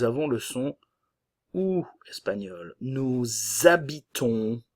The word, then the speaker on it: nous habitons: Nous habitons, le S ne se prononce pas et nous avons la nasale on.